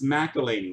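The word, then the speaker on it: McElhinney: How do you pronounce that? McElhenney? McElhenney? It's not even Chris, it's Curtis. Yikes. John Tavares, mini for the Islanders. McElhaney. It's McElhaney.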